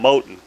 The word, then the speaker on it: Moton: pronouncing this game jim's calling him moton but it's like cotton with an m so that would be